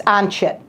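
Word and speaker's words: ONC-HIT: And you could write out that as an acronym, but let's just say when it's pronounced, it's ONCHIT.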